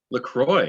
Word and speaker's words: LaCroix: the brady bunch here no how do you pronounce that this orange seltzer uh lacroix lacroix okay i was hoping you go well since